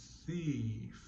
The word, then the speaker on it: thief: Thief. We're using the tongue cooler sound at the beginning and the lip cooler sound at the end.